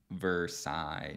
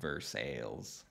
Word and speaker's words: Versailles: sheer not will Shire Versailles not Versailles man I get this